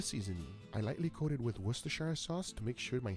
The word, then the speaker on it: Worcestershire: And then Shire at the end of it. So it's Worcestershire. People have really weird, crazy pronunciations of that word, but that's how it actually is pronounced, Worcestershire.